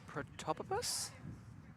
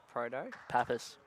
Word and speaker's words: Protopsaltis: Proto? Proto. Psaltis. Protopsaltis.